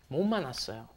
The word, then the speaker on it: 못 만났어요: It's kind of like an N sound, isn't it, when it comes before an M. 못 만났어요.